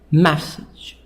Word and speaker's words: message: Message. The stress here on the first part, on part number 1.